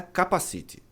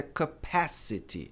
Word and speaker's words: capacity: A pronúncia de capacidade não é capacite. Capacite é o que você usa para andar de moto, bicicleta. A pronúncia correta é capacity. Capacity. No inglês americano, tem uma tendência de pronunciar esse T como R.